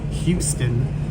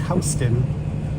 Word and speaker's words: Houston: Why do New Yorkers mispronounce Houston? Because it's not Houston, it's Hston. Because Hston is named after the Dutch family that owned the land in that area.